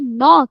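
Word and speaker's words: knock: उसके साथ एन है तो मैं के को स्किप करके एन को इमीडिएटली फॉलो करके पढूंगी नी। इसको मैं पढूंगी नॉक और इसको पढूंगी नैश।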